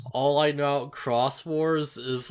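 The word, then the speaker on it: Xros Wars: i figured yeah yeah i'm almost certain it's supposed to be pronounced cross wars but whatever that's the thing you're right but i'm like saying it how it's spelled great because like if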